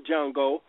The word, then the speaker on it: Django: n g o and the D is silent you know what I'm saying and and that's who he and that's who he was talking to was the original jungo you know I'm saying